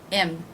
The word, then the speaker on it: him: I will drop that H. Im.